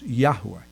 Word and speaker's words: Yahweh: also familiar with Yahweh but but the correct pronunciation the one that they're most familiar with is Yahweh in fact it's funny because if you're in